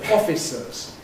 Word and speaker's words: officers: If we take the pair of words offices and officers, for me they're different because the plural of office has e offices. The plural of officer of course has officers.